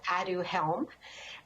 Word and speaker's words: Aduhelm: So the pronunciation, aducanumab, and the brand name is Aduhelm.